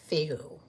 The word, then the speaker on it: Fehu: In the Anglo-Saxon version, it is spelled Feoh, and in the Elder Futhark version, it is spelled Fehu, but it is pronounced the same, Fehu.